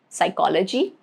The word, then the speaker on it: psychology: Rule number 1, it is silent in the combinations PS, PT and PN at the beginning of the words, okay, like psychology, pterodactyl, pneumonia, okay, these three words.